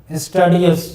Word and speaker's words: studious: Most of you utter it studious, but studious is not the correct pronunciation. Actually, it should be studious.